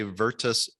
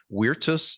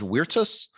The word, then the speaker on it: Virtus: are derived from latin so we could say vertus and victoria but um it would be more proper to say weirtus and victoria if you're pronouncing in latin but